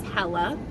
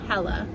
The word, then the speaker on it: Hela: The correct way to say my new name is Hela, like Bella, but with an H, Hela.